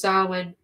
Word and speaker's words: Samhain: In fact, the origins of Halloween go back thousands of years to the Celtic celebrations of Samhain, pronounced Samhain, a festival that marked the end of the harvest season and unearthed in the new year.